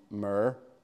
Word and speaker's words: myrrh: So he took myrrh. How do we say that in Northern Ireland? That's the right way to say it. Though myrrh and mirror sound the same, don't they?